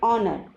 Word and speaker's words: honor: But here in these words H is silent and the word is beginning with the vowel sound R. Honest, honor, awe. So here H is silent and the words begin with O vowel sound.